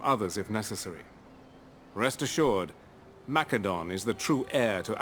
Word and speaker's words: Macedon: over a year ago I pronounced mcadon as they pronounced it in this game mcadon not maedon I used to pronounce a Macedon people uh got mad at me for doing that before I had to explain to them the game pronounces it that way so I also say it that way mcadon there we go that's